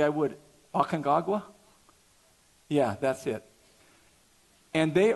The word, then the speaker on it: Aconcagua: Aconcagua?